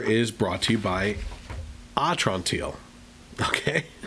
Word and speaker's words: Atrantil: Also, this half hour is brought to you by Atrantil. Okay? That's how it's said in my promotional material here. It's sounded out as Atrantil.